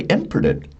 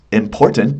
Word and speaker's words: important: And he said, "Yes, important. That's what I said. And I said, "No, I'm sorry. You did not say important. You did not put the stress in the middle of the word.